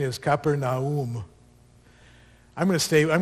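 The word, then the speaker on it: Capernaum: anything how many of you know how to pronounce keram how many of you say capernium I say kaeper we're all wrong we're all wrong so this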